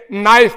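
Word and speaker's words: knife: उसमें होता है भाई ये नाइफ में के साइलेंट होगा क्यों होगा चुप ऐसे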